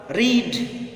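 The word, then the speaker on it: read: For example रीड, रेड रेड, रीड का pronunciation आप देखिए, first form रीड, second form रेड, third form रेड, spelling वही रहेगी, पढ़ेंगे अलग अलग।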